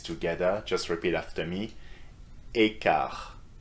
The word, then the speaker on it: quart: Écart. So the T at the end, as you can see, or hear rather, is not pronounced.